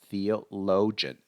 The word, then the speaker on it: theologian: that particular religion Theologian let's pronounce it together Theo Theologian Theologian so we don't say Theologian we just say Theologian theology is that formal